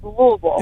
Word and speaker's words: Louisville: I always say Louisville, Kentucky, but y'all say it different. How do you? It's like with marbles in your mouth. How do you say it? I'm a transplant, but it said Louisville.